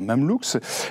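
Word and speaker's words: Mamelouk: Oui, pardon, je prononce Mamlou.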